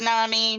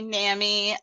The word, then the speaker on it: NAMI: It's pronounced NAMI, NAMI. Either way, we figure they're just coastal accents.